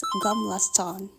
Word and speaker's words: Gamla stan: Oke, sambil kita explore, I want to tell you something about Gamlaston. Kalau Swedish pronounce-nya it's Guml Stone.